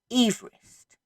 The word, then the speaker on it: Everest: Unfortunately, his family pronounced their name Everest. And he was very particular about it. He would correct people. He found it insulting that they would mispronounce his name. And this man had a mountain named after it. And now we all pronounce it incorrectly.